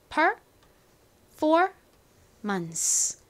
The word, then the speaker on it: performance: performance. 발음해 볼게요. performance. 한 번 더 해볼게요. 여기 부분에 제일 큰 강세가 들어갑니다.